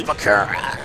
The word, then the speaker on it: Bakura: It's Bakura. What? I'm like, okay. So the correct way is Bakura?